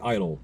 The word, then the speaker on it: idyll: When I say idol, don't think of American Idol. Think of the word idol spelled with an I-D-Y-L-L.